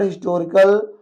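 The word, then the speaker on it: historical: बट मेरे ख्याल से यहां पर हिस्टोरिकल कोई लेटर आपका साइलेंट नहीं है। और यहां पर हम एच की साउंड स्पष्ट रूप से हमें सुनाई दे रही होगी।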